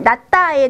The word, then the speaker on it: 낫다: 우선 낫다에 대해서 설명드릴게요. 발음은 낫다 이렇게 하셔야 돼요.